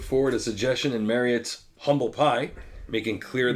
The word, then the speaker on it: Humble Pie: Each member put forward a suggestion in Marriott's Humble Pie, making clear, you pronounce it, umble pie.